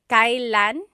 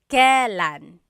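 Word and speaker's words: kailan: It's pronounced kylan. Kylan, but you will often hear it pronounced kalan.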